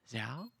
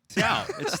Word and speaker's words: Xiao: Jordan just going, Zhao? Xiao. That's how you say it.